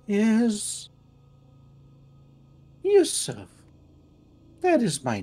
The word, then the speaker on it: Yusuf: good my name my name my name is Yusuf that is my name hey spell that y-u-s-u-f Yusuf well uh you says it's it's a